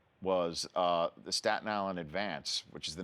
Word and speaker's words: Advance: interesting thing enough is Staten Islanders put these the accent on the first syllable so it's called the advance the advance yeah so you work